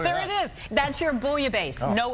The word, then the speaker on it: bouillabaisse: Okay, there's no L in it. Bouillabaisse. Bouillabaisse.